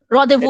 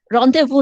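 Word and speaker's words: rendezvous: আরেকটা ওয়ার্ড আছে রেন্ডেসভাস, রদেভু, that is French word, ওটা ফ্রেঞ্চ উচ্চারণ, রদেভু।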